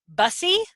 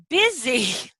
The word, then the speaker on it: busy: so silly rainy City expect them to say bussy okay and then you just correct that busy-busy good okay that's a